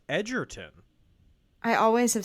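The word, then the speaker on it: Egerton: It's pronounced Edertton.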